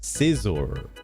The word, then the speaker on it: Scizor: Scizor. Like scissors.